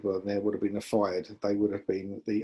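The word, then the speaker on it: fyrd: He also had untrained farmers who were armed with pitchforks and slingshots are called fired. That's how we pronounce that word.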